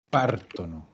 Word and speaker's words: partono: Pártono. Exacto. La regla se mantiene. El acento en la raíz.